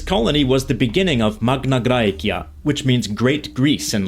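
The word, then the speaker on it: Magna Graecia: This colony was the beginning of Magnagraia, which means great Greece in Latin. Yes, in Latin. And that's of course in the classical pronunciation.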